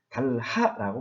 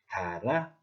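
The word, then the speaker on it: 닳아: 예를 들어서 라흔이라고 말하지 않습니다. 만희라고 말하지 않습니다. 달하라고 말하지 않습니다. 이때 발음을 할 때 히읗을 없애고 탈락시켜서 나은, 많이, 달아 이렇게 말을 합니다.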